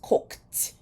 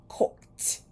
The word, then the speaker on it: cooked: end so the past tense of cook is cooked cooked shop that final sound is a p sound